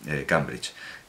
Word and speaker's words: Cambridge: Claro, todo el mundo que no domina el inglés piensa que esa A debe ser E, pero es el río Cam, pronunciado Cam, es el puente sobre el Cam, Cambridge.